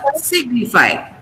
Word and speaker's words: signify: So you have to put the stress on C. So it becomes signify.